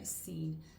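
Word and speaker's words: Seine: and I will find the color is scene and that's spelled s e i n e so scene so it doesn't really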